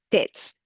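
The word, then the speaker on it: ཏོག་ཙམ: And you'll note that toksam, usually it's just pronounced tets, tets, tets.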